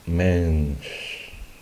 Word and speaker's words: Mensch: No se dan cuenta la vocal, el sonido de la E termina en la N y después está como una sola sílaba casi esa SCH al final. Es Mensch. Esa SCH usualmente se hace entonces, como les decía, como si estuviéramos callando a alguien.